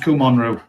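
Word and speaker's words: Kumonryu: It's pronounced Kumon Roo. Bit like Daosu and Doitsu.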